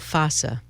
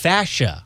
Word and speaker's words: fossa: Popliteal fossa. Come on now, that's not real. Come on, it's the area behind your knee. Oh, it is Oh, I didn't know popliteal that. fascia.